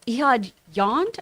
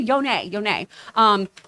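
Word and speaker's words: Ehud Yonay: Ehud Yond, I believe is how you say his name. Yone.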